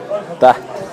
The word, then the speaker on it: Täht: There is the second letter is A, which is not this kind of letter the other languages doesn't have, so for sure for foreigners it's very hard to pronounce this name correctly.